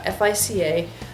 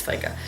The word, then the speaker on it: FICA: or FICA sorry it's FICA I keep always saying I want to say f but it's I think it's pronounced FICA and apologies for the